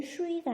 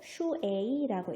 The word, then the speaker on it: 水: 그래서 얘는 슈이가 아니고 슈에이라고 읽어야겠죠.